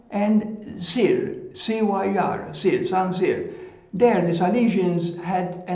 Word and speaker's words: Saint-Cyr: Saint-Cyr is pronounced Saint in English, S-A-I-N-T, but in French it's pronounced San, and Cyr, C-Y-R, Cyr, Saint-Cyr.